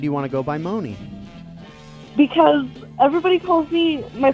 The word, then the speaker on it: Moni: thank you what was your name again Mooney Mooney Mooney Mooney yeah how do you spell that good question um m o n i